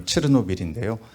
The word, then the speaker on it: 체르노빌: 말씀드렸듯이 독일은 과거 이제 체르노빌 그쪽 이제 발음을 치르노빌인데요 치르노빌의 그 비극을 옆에서